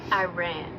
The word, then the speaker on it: Iran: It's pronounced Iran? Yes, that's correct. It's pronounced Iran. Like the English sentence, I ran.